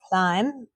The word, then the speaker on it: climb: Climb. Whistle. Listen. So climb is a silent B.